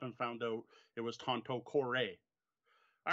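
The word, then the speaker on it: Tanto Cuore: through the video you started calling the game tante core Oh all right I apologize chronic command to be honest when I first learned the game I thought it was ponte corps oh that's how i pronounced it when I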